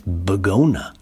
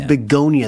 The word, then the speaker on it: Begonia: So I think it's supposed to be like a pun on begonia. Okay. Begonia. So I think maybe it is. You say it like the flower, but you spell it wrong.